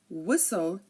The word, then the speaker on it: whistle: is silent here and if a word ends in St tle e like Castle hustle whistle um you know it